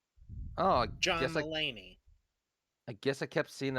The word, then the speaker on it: Mulaney: Pronounced John Mulaney. Yeah, it's Mulaney. Oh, John Mulaney.